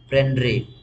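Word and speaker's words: prendre: देखो प्रॉफिट अ पन्रे पी आर ई एन डी आर ई पेंड्रे ये पहला आर जो है साइलेंट है पेंड्रे ये जो आपने लास्ट में क्या लिखा वो लास्ट में क्या लिखा है?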